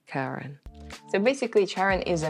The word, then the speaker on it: Charon: one is charon or sharon i'm not really sure i kept saying it wrong and it is actually pronounced as karen so basically charon is